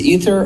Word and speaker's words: Ether: of these Ether, or Ether is Ethereum's internal currency. So you're calling it Ethers? Yeah, well, Ether. How do you spell it? It's E-T-H-E-R. Okay. Like, yeah. Like that void up in the sky.